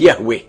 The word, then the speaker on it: Yahweh: himself as I am, which in Hebrew is pronounced Yahweh.